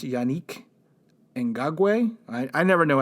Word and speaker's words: Ngakoue: We actually called the press office over at the Jacksonville Jaguars and tried to get a proper pronunciation of his name. And I know it's Yannick Ngakoue.